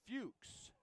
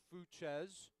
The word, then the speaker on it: Fuchs: As on the mound it's Mitchell Fuchs, not Fuches.